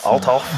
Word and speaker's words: Althoff: Althoff? Althoff.